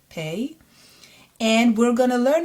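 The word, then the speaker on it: פ: The new letter that we're going to learn today is pei, P sounded letter, pei.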